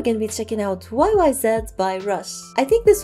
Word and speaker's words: YYZ: check out today's song YY z i just pronounce it y YZ before but you guys said that I should pronounce it YY Z so thanks for letting me